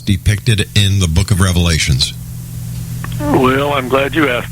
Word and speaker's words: Revelation: said The Book of Revelations that's how chrisan fundamentalist pronounce it actually there's no s on the Revelation but so I say